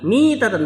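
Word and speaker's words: ميتة: Nah, kata Rasul sallallahu alaihi wasallam, "Barang siapa mati tidak ada baiat pada lehernya, dia mati mi tatan bacanya mi ya.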